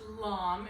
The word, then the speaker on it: lame: but it's actually pronounced long if you want to be fancy and french about it alam is basically can